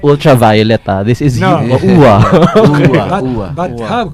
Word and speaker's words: Uva: No, normally you would pronounce that as Yuva, no, but it turns out in Serbia it's pronounced as Uwa. Uwa.